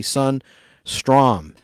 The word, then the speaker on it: Sundstrom: His last name is spelled S-U-N, like our sun, that Earth orbits in the Milky Way galaxy. Sun, Strom. All one word, S-T-R-O-M.